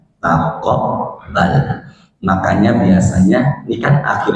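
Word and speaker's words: تقبّل: Taqabbal itu Bapak di Quran, taqabbal tulisannya bukan pakai kaf tapi pakai qaf. Jadi tulisannya pakai qaf, bacanya taqabbal.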